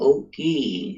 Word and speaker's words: Oki: So when I say to you, Oki, it's spelled O-K-I.